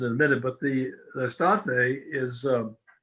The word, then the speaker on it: Estate: a minute, but the Estate is, summer is Estate, not Deestate, which is from summer.